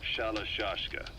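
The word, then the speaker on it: Shalashaska: Someone must have known about that, because somewhere along the line, Shashka got stuck on the end of Sharashka. The guerrillas were using the name amongst themselves. By the time I got to hearing about it, pronunciation had wound up as Shalashashka. So, half Gulag, half Hero Sword.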